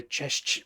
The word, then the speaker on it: Cześć: I say Cześć to my friends over there. I've been coached by Fake One to pronounce the ch on the end, so hopefully I'm doing him justice.